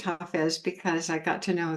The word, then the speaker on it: Hafiz: I know it's pronounced Hafiz because I got to know the main translator of Hafiz, Daniel Ladinsky, over time.